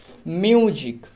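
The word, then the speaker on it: music: হলো বর্গীয় জ next মিউজিক এম ইউ মিউ এস আই সি জিক নট সিক মিউজিক তাহলে এক্ষেত্রে যে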